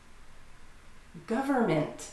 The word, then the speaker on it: government: Government. You don't need to try to pronounce the N. You'll just get confused. Government. 3 syllables. Government.